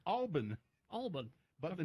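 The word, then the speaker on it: Albin: It's supposed to be pronounced, I don't know why, Alban.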